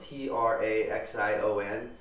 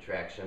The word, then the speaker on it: Traxion: traction outsole and that's spelled t r a x i o n so I keep wanting to say traxion or something like that but I'm pretty sure they want you to pronounce it traction there and it's uh